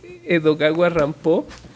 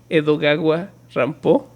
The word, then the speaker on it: Edogawa Rampo: mirada perversa, y es de este escritor japonés Edogawa Rampo, que se me hace muy divertido, que ese es el seudónimo que se puso a sí mismo porque era fan de Edgar Allan Poe. Entonces es Edogawa Rampo, como Edgar Allan claro, Poe mal Edgar pronunciado.